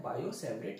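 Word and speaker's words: Biot–Savart: मुझे भी ऐसे लगता था, लेकिन एक्चुअली होता क्या है, ये टी साइलेंट रहता है तो इसे पढ़ा जाता है बायो-सेवरेट लॉ।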